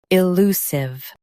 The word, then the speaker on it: elusive: i lu sive elusive Emphasize lu and soften sive at the end.